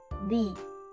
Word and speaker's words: thee: First, we start with the sounds where your tongue gently touches your front teeth, like in the word think. Then, we add a long E sound, like in see.